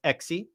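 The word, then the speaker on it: έξι: Then you get the hex, x, which they pronounce exi. They added a vowel.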